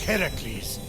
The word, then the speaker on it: Heracles: Phoenix after boldly besting the Gorgon that ambushed Heracles what are you doing there that thing please